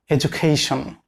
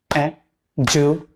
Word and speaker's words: education: Look at that word, education. There are 4 syllables in this word. They are education.